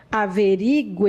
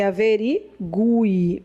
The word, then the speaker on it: averigúe: verdade quando você digita quando você diz é averiguar e você tá pronunciando errado tá a pronúncia correta e averigúe porque é bem aqui que era força averigúe também que as provas não